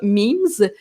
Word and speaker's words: meme: Ça s'écrit comme mème, mais on prononce ça memes.